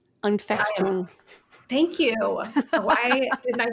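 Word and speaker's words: Anfechtung: It starts with an A. It's like Afutung or something like that. Unfechtung.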